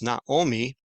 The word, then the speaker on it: Naomi: So his wife's name is Naomi, and we would say Naomi, but in Hebrew it's Naomi.